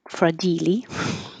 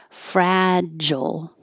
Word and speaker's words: fragile: closed tongues tongs fragile I know that looks like fradilly but we say fragile fragile and then we practice